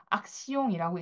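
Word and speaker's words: action: 자 영어로는 액션이라고 할 단어죠. 자 행동 액션을 프랑스어에서도 쓰이는데요. 악시용이라고 읽습니다. 악시용.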